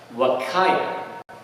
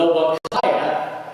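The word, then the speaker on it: Huacaya: Suri versus Wakaya. H U A C A Y A. I assume you know you don't pronounce H and S.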